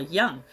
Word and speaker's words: Jung: so Carl Jung J I don't know if you pronounce the J like a y I think people say Carl Young but he's the author